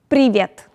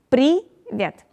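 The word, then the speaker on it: привет: uh russian phrases so the first one is privet uh it's also pronounced like pre privet it means hello hi hey pre vet then goes kak dilla uh it pronounced like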